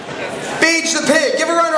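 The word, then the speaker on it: Bage: the pronunciation on that like Gage but with a B beige beige the pig give a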